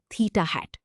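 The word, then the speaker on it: θ̂: The symbol theta with a little hat on it is pronounced theta hat.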